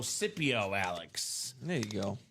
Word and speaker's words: Scipio: Sip like sipping coffee, so Scipio, Alex. There you go. Scipio.